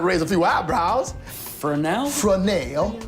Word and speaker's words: Fresnel: Fresnel. It's spelled just like it sounds.